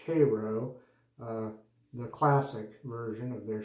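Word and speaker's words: Каро: My cream has been this, well, it says Kapo, but it's Cyrillic, so it's pronounced Cairo, the classic version of their shaving cream.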